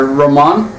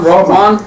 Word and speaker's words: Romain: Yeah, well, Coops has told me it's, you got to roll your tongue a little bit. So, Romain. Romain.